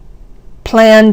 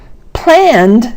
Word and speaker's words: planned: Planned a garden. Planned may look like it has 2 syllables, but it's not planned, it's planned, which is maybe a long beat, but still only one beat.